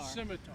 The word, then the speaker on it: scimitar: Yeah, like a skiitar. Yeah, something like that. Scimitar. Scimitar. So the C is silent.